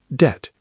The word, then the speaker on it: debt: Debt, pronounced debt, silent B.